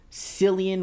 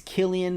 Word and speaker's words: Cillian: a giant prank haha Sam keeps calling him sillian when it's Killian let's see how long